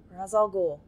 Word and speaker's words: Ra's al Ghul: Ra's al Ghul, or Ra's, depending on your preferred pronunciation.